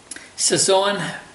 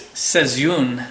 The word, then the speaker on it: Seizoen: this one is a saon breta and actually it's uh I'm pronouncing that wrong it's seun I'm told there the proper pronunciation and they spell a